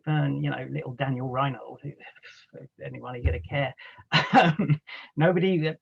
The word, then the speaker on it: Rynhold: so much to uh professor rinhold i guess reinhold i've pronounced it wrong for all these years